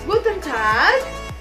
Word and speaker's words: Guten Tag: Lalu yang selanjutnya ada Guten Tag. Ya, artinya selamat siang. Coba ikuti saya. Guten Tag. Good. Jadi huruf A-nya itu agak panjang ya.